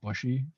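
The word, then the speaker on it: Bouchy: the coaches and brett they call him brett bushy but his last name is spelled b-o-u-c-h-y so the fact that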